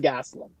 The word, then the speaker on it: Gastelum: up in Saudi the other guy uh Kelvin Gastelum Gast that's correct well I'm I'm I'm in